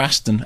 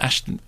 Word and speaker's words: Ashton: The thing with Ashton Kutcher is is it Ashton or Aston? Ashton.